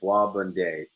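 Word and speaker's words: bois bandé: in in saint lucia called bobonde it's spelled b-o-i-s and then you know space b-a-n-d-a-e and what it translates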